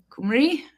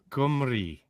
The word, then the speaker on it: Cymru: gonna ask how do I how do I pronounce c y m ru? Kumri. Kumri.